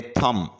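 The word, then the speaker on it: thumb: तरह next word है थम थम में जो बी लेटर है यानी ब आवाज जो है यह इसके अंदर साइलेंट है इसके बाद है सोर्ट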